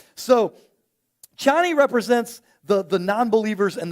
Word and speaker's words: Chani: side of that there's channie Chie is played by Zena um and and her name is spelled c h ni it sounds like every time Paul says it Johnny but it's ch chani and so um you